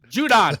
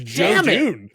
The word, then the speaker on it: Judon: I'm not saying his last name wrong. Judon. Thank you. I called it Star Wars. I went Star Wars on that. Sorry. I was like, who the hell is Jadoon?